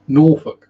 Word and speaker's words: Norfolk: have to pronounce it if you want to sound like a local you have to pronounce it with a's not o's okay and the queen